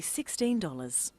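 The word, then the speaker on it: sixteen: say 16 or 60 usually the first syllable in a number is stressed 16 60 notice that it's the final n in teen that you have to be careful with teen T but of course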